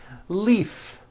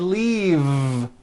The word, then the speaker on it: leave: is that correct no it's not leaf with an unvoiced F I should have said leave with a voiced V sound fisa she just received